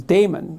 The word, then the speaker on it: daemon: And then he went off and had a little consultation with his conscience, his daemon, he called it. I think you actually pronounce it demon, but it means conscience for our purposes.